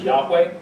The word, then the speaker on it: Yahweh: And that's where you get Jehovah, or another pronunciation suggested is Yahweh.